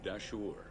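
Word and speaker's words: Dahshur: And I think it's pronounced Dashur. Welcome to the Bent Pyramid of Dashur.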